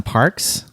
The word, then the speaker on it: Parq: I got to visit some parks, Yes. particularly Park Casino in Vancouver. That's spelled PARQ.